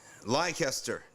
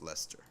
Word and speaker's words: Leicester: read about Lester okay lycaster disorder fear lingers among cities Muslims and Hindus of course it's actually pronounced Lester so what's going on